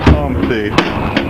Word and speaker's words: Humpty: My name is Humpty, pronounced with an umpty.